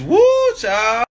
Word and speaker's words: whew chile: Like W-H-E-W Chile. Chile? It's woo child.